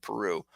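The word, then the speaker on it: Piroe: the when um Peru somebody told me to start pronouncing it Peru when Peru came in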